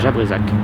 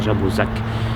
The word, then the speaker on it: Jabrezac: C'est parce que le hameau s'appelle Jabrezac. On peut aussi prononcer Jabrezac.